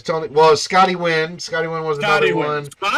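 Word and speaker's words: Nguyen: You know, as a Filipino last name, is because of Scotty Wynn. And people are like, Sal, you might have difficulty pronouncing this guy's name.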